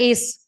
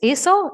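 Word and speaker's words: Acer: Macbook I had a Ace Ace aser aser AC e r aser okay I wanted to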